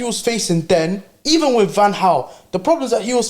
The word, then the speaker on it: Van Gaal: How can a man say Van Gaal? That's how you pronounce his name.